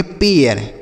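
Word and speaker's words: pair: उसी तरीके से एच ए आई आर, इसे हम पढ़ेंगे हेयर, यह होगा इसका सही उच्चारण। पी ए आई आर, इसे हम पढ़ेंगे पेयर।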